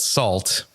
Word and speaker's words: SAULT: All right, because this fucking band, this enigma of a band, dropped this band's called Salt, and it's spelled SAULT.